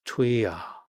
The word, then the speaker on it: 뛰어: 뛰어 sounds a bit like queer, but with a T sound at the beginning and without the R at the end, which gives us twia.